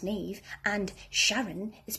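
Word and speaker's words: Niamh: is pronounced siobhan and nymph is pronounced nev and sharon is pronounced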